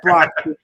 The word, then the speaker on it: Brock: And Brock rhymes with rock.